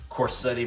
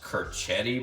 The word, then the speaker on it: Quercetti: which is Corsetti Magoga or actually I recently found out that it might actually be pronounced Kchetti Magoga but you know I'm just used to saying Corsetti that just that just sounds more American and less Italian.